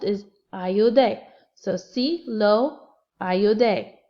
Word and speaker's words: ayudé: So sí, lo, ayudé, A-Y-U-D-E, accent on the E.